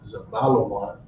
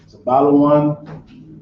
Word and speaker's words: Zebulon: Zabalawan in Creole, it's pretty much spelled very similar in the English with one slight difference. The I, instead of you, is Zebulon. Okay, that's Zabalawan, Zebulon.